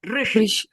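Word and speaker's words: ऋषि: So you're saying we need to pronounce it as Rishi? No, Rishi. Rishi. Not Rashi. There's no A also. Rishi. Okay. Pure Rishi.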